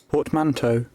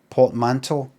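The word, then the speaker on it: portmanteau: Ah. But remember this is an English person. That's how they say Py pot. Port manto. Ah, Americans. The to one.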